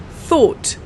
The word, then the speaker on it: thought: an idea for example it's pronounced like this fur and then a or sound and then it's thought thought let's try this together the tongue out fur and then all and then thought for example have you